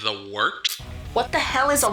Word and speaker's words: Wort: It is the Wort, not warts, not forts, not short, the Wort.